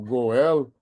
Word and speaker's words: Goel: Então, acho que a transoral, aí eu discordo do meu amigo Goel, né, que seria a pronúncia correta, é que eu, não, eu vou dizer igual a outros colegas da Índia, nunca diga nunca.